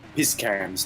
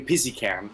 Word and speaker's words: Piskan: So apparently I've been mispronouncing Matthias Piskan's name. Piskan. Originally I was calling him Pizzican, which sounded like a really bad energy drink.